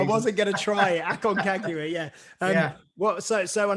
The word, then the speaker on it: Aconcagua: Pete pronounced the name, the one beginning with A. Well, Aconcagua.